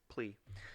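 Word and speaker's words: P'Li: I've always just pronounced it Pai Li based off the way it was spelled. Yeah, it's just plea. P apostrophe L-I.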